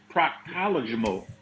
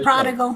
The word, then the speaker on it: prodigal: Prodigal. You gotta say it right. Prostatical. Close. No, prodigal. Okay. Prodigal, like the prodigal son return.